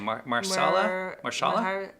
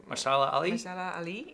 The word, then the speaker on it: Mahershala Ali: Mahershala Ali Mahershala Ali, yeah.